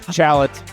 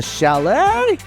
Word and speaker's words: chalet: Pronounced chalat. I'll say my bad. A chalet.